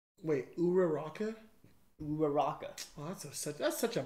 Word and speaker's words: Uraraka: Uraraka versus Bakugo versus Uraraka. Wait, Uraraka? Uraraka. Oh, that's such a bummer. I thought it was Uraraka. It literally makes no difference. We pretty much pronounce it the same, just without a V.